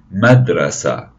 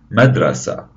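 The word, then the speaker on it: مدرسة: This is a picture of the school, and a school in Arabic is known as a madrasa, madrasa.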